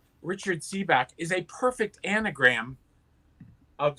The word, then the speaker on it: Sebak: hack and see back i realized my real name is richard c back okay i mean a nickname richard seebach is my name and uh my catholic